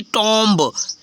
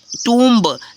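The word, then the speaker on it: tomb: तो क्या हो जाएगा टूम ठीक है इसको टोम नहीं होगा फ्रेंड्स टोम रंग प्रोनंसिएशन हो जाएगा आप चेक कर लेना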